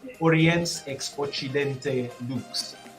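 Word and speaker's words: Oriens ex Occidente: you'll have to bear with me here it's pronounced orients expochidente one more time for all of y'all who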